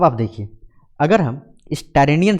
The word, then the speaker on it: Tyrrhenian: यहाँ पे जो सी है उसको हम लोग बोलते हैं टायरेनियन सी।